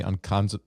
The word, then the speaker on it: Oncodazole: Oncodazole, ONCO, Oncodazole. Just like oncologist, only you add the end of fenbendazole, oncodazole.